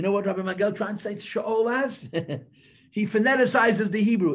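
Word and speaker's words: Sheol: You know what Rabbi Magel translates sha'ol as? He phoneticizes the Hebrew. It's S-H-E-O-L, sha'ol. Hashem, God Almighty, Elisa, you lifted me up, min sha'ol.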